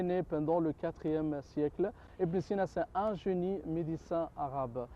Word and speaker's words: Ibn Sina: Avicenne, Ibn Sina, en prononciation arabe, oui.